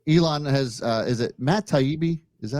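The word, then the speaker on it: Taibbi: Elon has is it Matt taibi is that how you pronounce it yes yes you nailed it he's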